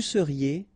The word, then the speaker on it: seriez: Vous seriez, a Z at the end, et seriez.